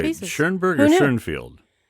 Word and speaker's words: Schoenfeld: Schoenfield? Or Schoenfeld? Okay, I'm talking about. I am so confused. Okay, the guy who lives in Michigan is Paul Schoenfeld. But Right. it depends if you say his name in German or English.